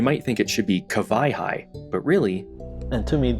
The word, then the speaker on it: Kawaihae: I've said it before, and you might think it should be Kawai'i, but really... And to me, that was the lesson in Kawai'i.